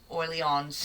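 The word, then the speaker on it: Orléans: You don't need to pronounce the S either.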